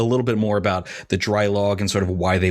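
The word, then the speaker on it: Draailaag: actually opened in 2011 under the name dry log which is spelled d-r-a-a-i-l-a-a-g which i believe is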